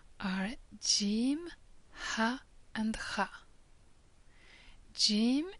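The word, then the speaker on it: ج: Jim is pronounced like J in jug or jewels. Ha is pronounced as H,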